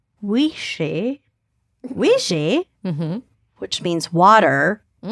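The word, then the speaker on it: uisce: how you spell it the word whiskey is an anglish anglicization of the classic gayc word wishi wishi mhm which means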